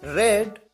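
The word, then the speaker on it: read: वी व्यक्त व्यक्त weeping हुआ था पढ़ना रीट रेड रेड रीडिंग यहां पर ध्यान रहे कि सेकंड फॉर्म और थर्ड फॉर्म की स्पेलिंग तो सेम होती है आ रही किए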